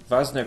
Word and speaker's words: Wanzer: thinks you are great vasner pilot is pronounced vasner like halfway between v and w apparently we have like